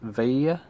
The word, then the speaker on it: Veglia: Next thing we've got to do is remove this, like the Veglia, which I think is actually pronounced Veglia, I think, from Google Translate.